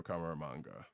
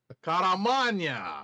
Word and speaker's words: Caramagna: letters by GBC's Joe Caramanga. So you may or may not have seen the trailer for this. How can you butcher the name of our favorite paisan? Caramagna. Look, man.